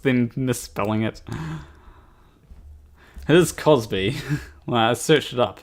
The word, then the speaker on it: Cosby: Was it Bill Crosby? Wait, is it Crosby or Cosby? Bill... It's Cosby, isn't it?